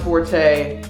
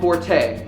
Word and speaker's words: Forte: mistake I'm sorry but it's called Forte not for it I can't even believe